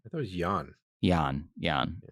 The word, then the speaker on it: Jan: Jan. It's spelt Jan, but it's Jan.